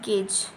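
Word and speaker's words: gauge: झाला तर जर तुम्ही किकीच्या स्पेलिंग्स पाहिल्या असतील तर त्यावरून असं वाटतं आपल्याला की जी ए यू जी ई गॉग असेल पण याचं प्रोन्सिएशन काय आहे जी ए यू जी ई गेज गेज means प्रमाणभूत माप गेज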